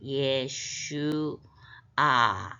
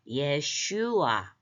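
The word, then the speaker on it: ישוע: 가운데 배 있 데다가 점 있는 거는 우 발음이 나는 거예요 그래서 예슈 아 이렇게 되는데 아직 철자를 다 안 배워 갖고요 그런데 엑센트가 예슈아 예슈아 예수입니다 어 자슈아 영어로 하면 자수아 아고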